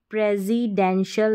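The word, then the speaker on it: presidential: रेजिडेंशियल हो गया Prezi प्रेसिडेंशियल यहां पर भी एस को हमने ज पढ़ा है क्योंकि एस से पहले ई है तो इस तरीके से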